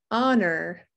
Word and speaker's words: honor: hear the k whoops honor don't hear the h whistle whistle no t